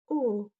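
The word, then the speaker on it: ㅜ: U. Tulisannya O tapi dibacanya U. Agak turun ke bawah. O-nya. Ee O-nya bukan O secara jelas, tapi O-nya diturunin. O.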